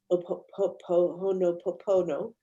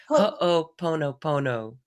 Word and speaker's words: Ho'oponopono: the heart, the more you can do the Ho'oponopono. That's so cute how you say that. That one, that one. How do you say it? Ho'oponopono.